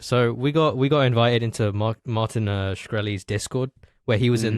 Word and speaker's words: Martin Shkreli: of the king, Martin Shkreli. Yes. Is that how you yes.